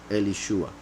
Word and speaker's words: Elishua: Yet, since, that would be a story for another moment, but Shin, Ayin can also be pronounced Shah. That's why a lot of people pronounce Elisha.